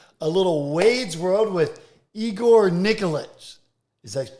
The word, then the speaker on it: Igor Nikolić: the way podcast a little Wade's world with Igor Nicholas is that pronounce that properly you nailed it man right